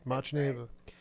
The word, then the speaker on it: Machneva: Did I pronounce it correctly? Machneva? Yeah, Machneva.